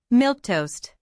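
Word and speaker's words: milquetoast: Milk toast.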